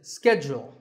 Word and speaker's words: schedule: in American English this is scheduled the first syllable is scat and the second is jewel schedule in British English it